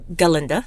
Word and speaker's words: Galinda: And as you can see, there's actually a silhouette of Galinda. The G is silent.